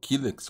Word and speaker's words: Killex: físico de Dylan Dog kyx ou kex como alguns pronunciam é um material encapador e